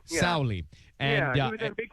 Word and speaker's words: Sauli: Sauli? Yeah, Sauli. Yeah. Sauli.